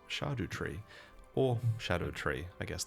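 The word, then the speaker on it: Scadutree: So, this is a shadow tree and it's pronounced shardu tree or shadow tree. I guess that's fine as well. Makes sense. It sounds a lot better than saying scardoo all the time.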